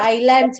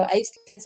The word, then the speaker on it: islands: Okay, ಅದು ಐಲ್ಯಾಂಡ್ಸ್ ಅಂತ ಓದ್ಬೇಕು. ಐಸ್ಲ್ಯಾಂಡ್ಸ್ ಅಲ್ಲ, ಐಲ್ಯಾಂಡ್ಸ್. ಸೀಸ್ ಅಂತೂ ಇಲ್ಲ, ಐಲ್ಯಾಂಡ್ಸ್ ಐ ಅಂತ ಬರ್ತದೆ, ಎಸ್ ಸೈಲೆಂಟ್ ಇರ್ತದೆ. ಐಲ್ಯಾಂಡ್ಸ್ ಅಂತ ಓದ್ಬೇಕು. ಓಕೆ, ವೆರಿ ಗುಡ್ ಅವಿ.